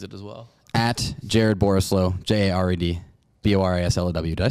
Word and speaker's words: Borislow: as well at jared borislow j-a-r-e-d b-o-r-a-s-l-w did i spell that right it sounded wrong when i was the oris it's a combination of boring and slow i didn't ever have